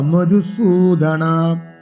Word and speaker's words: মধুসূদন: দ্রোণ্যঞ্চ, দ্রোণঞ্চ মধুসূদন, মধু সুতে দীর্ঘস্বরে টান দিতে হবে। দ্রোণঞ্চ মধুসূদন ঈশুভিঃ প্রতিয়োत्स्यामि, এখানে অনেক কাজ।